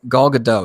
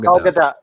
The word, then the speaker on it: Gadot: Speaking of Wonder Woman, I guess Gal Gadot. Is it Gal Gadot or Gal Gadot?